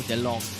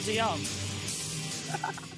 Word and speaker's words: DeYoung: Oh, and also it's not Dowell Short, it's Dowell DeLong. Dowell DeYoung. I got that one right, thank you very much, because I asked him his name pronunciation at the test today. It's Dowell DeYoung. Yeah.